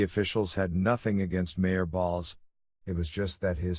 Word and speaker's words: Baals: the butt of all national jokes they couldn't pronounce the name as bales either which is what Balls's descendants call themselves these days because Harry Baals